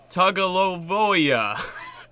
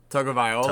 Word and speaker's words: Tagovailoa: He says, Tua Tagovailoa, Alabama.